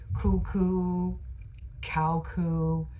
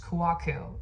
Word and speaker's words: Kouakou: when I was younger I used to be like my last name is pronounced and then they would never know how to pronounce it and then somehow in high school I just started saying my last name is pronounced Kaku and people were like